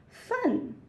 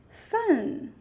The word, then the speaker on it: 饭: Fun. Yeah, falling tone, sharp falling, up to down. Fun.